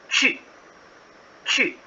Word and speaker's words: 去: So this word here, the first word, QU, you should pronounce with the U double dot sound, the U sound. 去去.